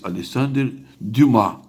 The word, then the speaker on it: Alexandre Dumas: Se escreve Alexandre Dumas, mas é francês. Alexandre Dumá, né?